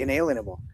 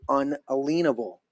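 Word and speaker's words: unalienable: are certain uh most people say inalienable. And I have for 25 years or more I say unalenable. Breaking it down 1828 uh uh what do you say the the dashes for the phonic pronunciation unalenable because these were rights that were you couldn't put a lean on them.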